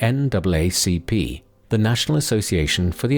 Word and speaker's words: NAACP: such as Walter White, chairman of the NAACP (pronounced: “N double A C P”), the National Association for the Advancement of Colored People, and Mary McLeod Bethune, the prominent educator and activist.